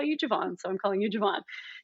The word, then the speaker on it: Javon: at a barbecue and his mom was like, oh, it's pronounced my son's name Javon. It's Javon, even though everybody calls him Javon. And he's like, no, call me Javon.